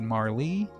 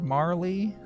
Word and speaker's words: Marle: among the fan base the pronunciation of Marl's name. You got 189 said Marl, 133 said Marley. I know that famous speedrunner Pooxel says Marley. Uh so whatever. At any rate, I say Marl, but as far as